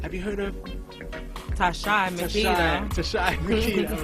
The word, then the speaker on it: Makeda: So my name is Amharic. So it's actually pronounced Makeda.